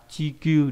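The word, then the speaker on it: 地球: Trái đất là chikyuu địa cầu này.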